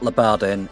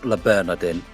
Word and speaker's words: Le Bernardin: a massive dyslexic moment it's not leadin it's Le Bernardin I'm probably butchering the pronunciation of that I don't care and